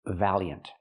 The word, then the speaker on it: valiant: It's two syllables. The first syllable has the vowel a like black cat. Val. Valiant. Use the y sound like in yes and yellow.